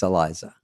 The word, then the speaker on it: Eliza: I'm thinking about it, when I walked up and said your name wrong, you took the mic and you go, it's Eliza. And then you just went on and did, but you weren't scolding me. No. You just said it right for the audience to know.